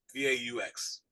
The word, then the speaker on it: Vaux: And the landscape artist for this cemetery was a man named Calvert Vaux, V-A-U-X. Vaux, if you were pronouncing it French, but in America, they say Calvert Vaux.